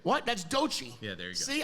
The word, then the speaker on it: Doechii: That's Doechii.